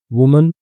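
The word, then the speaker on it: women: महिला होता है और एक से ज्यादा महिलाएं होंगी तो उसको वीमन पढ़ेंगे। यहां पे इ आ जाएगा। तो हम जो उच्चारण है हमारा वो वी हो जाएगा। वीमेन। ठीक है?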